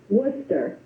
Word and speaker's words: Worcester: our country and I'm going to let is it will you pronounced your last name for me I'm going to butcher it Worcester Worcester see I knew I was going to